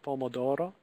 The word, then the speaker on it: pomodoro: Spaghetti al pomodoro, every letter being pronounced, pomodoro.